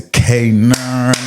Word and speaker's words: Kanaan: Kanaan. Am I pronouncing it right? Kanaan, yeah.